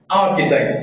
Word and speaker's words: architect: Can you mention another example with ch and pronunciation k?